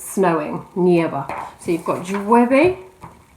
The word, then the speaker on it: llueve: Okay, literally it rains, and you've got that y sound there at the front, so it's llueve. You've got two sounds there in Spanish that are quite tricky to pronounce. You've got the double L, which is the y, and then the V, which is the sort of VB sound.